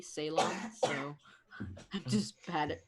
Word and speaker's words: Ceylon: Also, apparently it's pronounced Ceylon. Ceylon, okay.